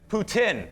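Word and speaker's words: poutine: what is that the ptin it's called the the french fries with the official pronunciation is Putin Putin is the official pronunciation you can have some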